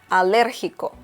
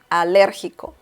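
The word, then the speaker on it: alérgico: allergic is a liriko liriko once again there is an intonation happening here so we see that the letter e has an accent mark which means that you pronounce it a little stronger so logical logical okay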